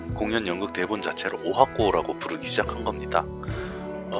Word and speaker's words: 十八番: 이 18번이라고 써놓고 일본에서는 이 18번이라는 글자를 오하코라고 읽고 있습니다.